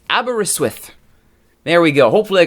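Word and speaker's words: Aberystwyth: pronunciation of one of the Welsh teams it's pronounced abber iswith there we go hopefully I got that right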